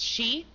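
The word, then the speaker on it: 四: Four is sometimes pronounced she, which is also the word for death, and nine is also pronounced coup, which can mean suffering.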